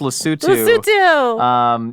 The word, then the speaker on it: Lesotho: It's pronounced Lesotho.